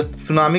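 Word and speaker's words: tsunami: पड़ेगा टी लगाना पड़ेगा क्योंकि सुनामी में क्या होता है 30 साइलेंट होता है सुनामी में क्या होता है 30 साइलेंट होता है तो सुनामी की सही स्पेलिंग क्या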